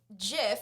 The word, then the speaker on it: GIF: GIF or GIF I've should be heard pronounced this. with a hard G or a soft G. But I say Oh, GIF. you say give?